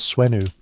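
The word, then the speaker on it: swnw: Imagine yourself in the role of an ancient Egyptian doctor, aidweno, pronounced swenu, who specialized in treating everything from infections to broken bones.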